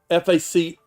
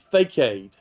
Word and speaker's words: facade: you know the word that you kept using f-a-c-a-d-e you pronounce it fake-aid well the actual pronunciation is facade they were